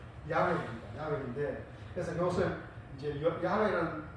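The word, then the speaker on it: 야훼: 따서 스스로 있는 자를 우리는 야 자 여호와라고 발음하고 있는데 사실 정확한 발음은 야외입니다 야외인데 그래서 것을 이제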